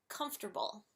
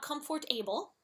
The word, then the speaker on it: comfortable: I will admit it comfortable it's not comfort able it's comfortable you know this is